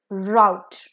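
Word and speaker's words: rout: feet तो next is अ रूट versus राउट okay a आरओ यू टी ई रूट जिसमें ई है इसका मतलब है कोर्स पाथ रास्ता by which रूट you came here कौन से रास्ते से आप यहां आए हो आर ओ यू टी राउट का मतलब है फ्लाइट भागना जैसे द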